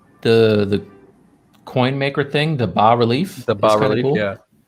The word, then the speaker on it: bas relief: I am interested to try the coin maker thing, the bas relief.